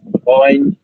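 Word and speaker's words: غين: মানে গাইন উচ্চারণটা গাইন হবে না, গই হা হবে গ থেকে, ঠিক আছে, গ থেকে গইন।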